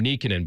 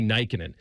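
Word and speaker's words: Nykänen: I I kind of went through phases where I thought he pronounced his name Nickin, but I think it was Matty Nyikin.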